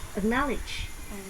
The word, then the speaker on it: acknowledge: Acknowledge. Nó không phải trọng âm, nó chỉ là âm ơ.